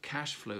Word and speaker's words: cash flow: Hello, this is from BizWords, and today's business phrase, a simple one, is cash flow. Cash flow, the accent is normally on the first syllable, cash.